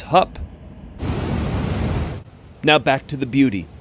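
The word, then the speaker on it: Höfn: the short one there h-o-f-n it's not hoffen it's hup now back to the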